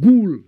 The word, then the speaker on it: ghoul: It's called ghoul. It's spelled G-H-O-U-L.